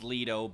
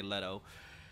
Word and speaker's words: Leto: letõs or Leto's amulet I'm not entirely sure what the proper pronunciation is on that I believe it's Ledo but who knows I always say letto but anyways I wanted